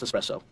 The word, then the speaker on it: espresso: it's all machine so actually it's pronounced espresso wait that's what you